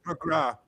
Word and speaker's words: McGrath: Um how do we how do we pronounce McGrath? McGrath. The Irish pronounce it McGrath.